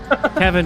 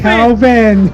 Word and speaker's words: Kelvin: Kevin, who's your favorite F1 driver? It's Kelvin. Kelvin. There's an L.